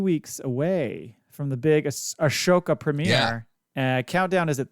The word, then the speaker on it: Ahsoka: skew the only Star Wars podcast to correctly pronounce Ashoka I'm Jason the angry Ginger Jedi guy I